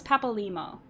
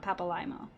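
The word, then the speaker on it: Papalymo: you say her name i know it's papalimo not papalimo that the scions would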